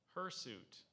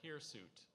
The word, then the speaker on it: hirsute: Spartan SP correct her suit or here suit here's suit here suit is there another pronunciation there's here suit and her suit her suit and here suit can you please use